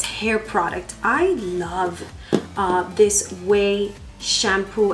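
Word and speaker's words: Ouai: product I love this way shampoo I think it's pronounced way dry shampoo hair mousse it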